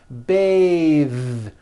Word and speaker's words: bathe: an unvoiced th Beth but when you change it into a verb to bathe the vowel changes to an a sound and the th is voiced bathe like in bathing suit breathe same thing breath